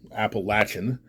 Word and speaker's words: Appalachian: see, especially along the Appalachian Mountains, Appalachian, that's really the correct pronunciation.